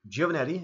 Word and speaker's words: Giovannetti: to hear that right because Giovannetti is the way you say my name I want people to